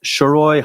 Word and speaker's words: Shiroi: is the shirt all shiroi hana not sure how you pronounce it it's it's Japanese so that's shi roi and it's a Japanese